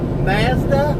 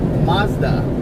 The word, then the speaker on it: Mazda: That cannot be how you all pronounce that. Mazda. Only in New Zealand you all pronounce stuff like that. I think here in United States they pronounce it Mazda. Don't give me the line, but I'm pretty sure Mazda. Yeah, that's a New Zealand thing.